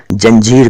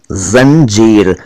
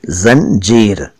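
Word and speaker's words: ज़ंजीर: और कुछ लोग जंजीर कहते हैं, वो भी गलत कहते हैं। हाँ वो भी गलत कहते हैं। सही उच्चारण इस शब्द का है जंजीर, पहले जेड उसके बाद जे, जंजीर।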